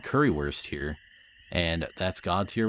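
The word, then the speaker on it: Currywurst: saying it wrong cuz don't you pronounce the W like a V like baguette bread and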